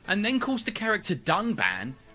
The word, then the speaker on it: Dunban: strongly disagree with and then calls the character dunban Duncan this time however they did edit out out